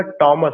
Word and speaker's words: Thomas: जो आप लोग थॉमस प्रोनाउंसिएशन कहते हैं, वो थॉमस प्रोनाउंसिएशन नहीं होगा, टॉमस होगा।